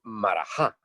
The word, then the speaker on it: maharajá: dice en español porque en madrid dicen marajá ves que no pronuncian h es ni nada no